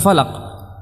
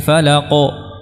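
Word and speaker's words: الفلق: Atau falaq, qul a'udzu birabbil falaq. Tidak diucapkan qul a'udzu birabbil falaq. Ya, jadi yang tebal juga harus ditebalkan. Nah, dan tidak difathahkan.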